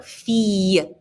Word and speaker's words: fille: When you see I-L-L, it's a y sound. So, fille.